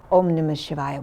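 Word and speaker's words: Om Namah Shivaya: as an o and you linger on the um because it's really delicious oh and then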